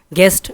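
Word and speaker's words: guest: गेस्ट जी इसमें silent है, मेहमान को कहते हैं।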